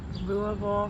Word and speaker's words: Louisville: That's how you pronounce it. Louisville, say it like you're drinking bourbon.